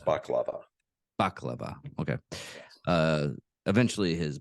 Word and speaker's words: baklava: uh, biscuits or their Bolivia, containing too many shards of glass. Eventually, his It's pronounced baklava.